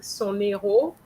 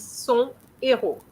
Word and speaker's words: héros: They kept saying son héros and it's son héros, even though it's supposed to be an H which is pronounced. We don't say héros. It used to be like that. I remember when I was in France when I was a kid, we used to to pronounce those H's, but nowadays it's not done.